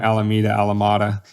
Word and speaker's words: Alameda: And I probably pronounced that wrong. Alameda. Anyway, 25%. No, Alameda's right.